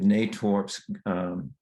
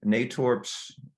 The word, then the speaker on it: Natorp's: he also works with natwarp's garden center and landscape what is the it's natorp's i mispronounced that actually it's it's natorp's in ato rps and uh it's a